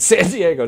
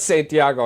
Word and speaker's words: San Diego: so San Diego Chargers that's how you say it San Diego not Santiago I'm sorry that's where